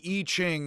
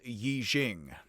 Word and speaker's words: Yi Jing: up in the western world etc the the e ching is now read as yi jing and that is closer to how it is mispronounced by me so hey how'd that happen